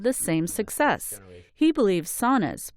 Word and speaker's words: sauna: He believes saunas, pronounced sauna in Finnish, are having a moment and he expects it to last.